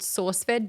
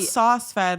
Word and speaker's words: SourceFed: It was called, for them, it was called SourceFed D&D. Oh, cool. So I brought this like sort of D&D. Not sauce fed, like saucy. No, like source. Yeah. With an R that I don't say or pronounce.